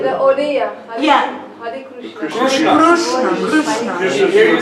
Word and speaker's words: Hare Krishna: and that would mean that you're saying, like, Hare Krishna, then... That's Bengali pronunciation though. Yeah, if you want to sing like a Hare Krishna mantra like a Bengali, then you'd say Hare Krishna, Hare Krishna.